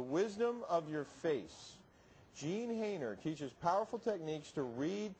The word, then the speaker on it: Haner: Jean, is it Hayner? Is that how you pronounce Hayner, it? very good. Hayner.